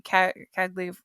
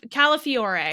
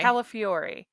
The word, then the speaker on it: Calafiore: and it stars uh i always want to say his name wrong his last name wrong cody cagley how do you say hi calla fiore calafiore yes who is the big